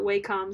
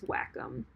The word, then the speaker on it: Wacom: don't like it I don't like how it's pronounced I've always thought Wacom sounds more like a like a tech company but it's Wacom so Wacom w eh c om they're pretty